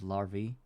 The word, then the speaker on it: larvae: just saying that uh the ending of uh of larvi, plural of larvae, is actually pronounced through an e sound.